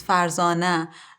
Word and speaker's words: Farzana: my name say with the way that my mom calls me because in azerbaijani accent it's farzana and it's easier for